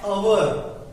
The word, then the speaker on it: hour: H is presented in that word, but it is silent. For example, an hour. We cannot say that hour, not. The pronunciation will be an hour.